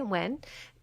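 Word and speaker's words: Nguyen: I don't know how to pronounce Amanda that Wynn. last name. Is that how you pronounce it? Mm-hmm. Okay, Wynn.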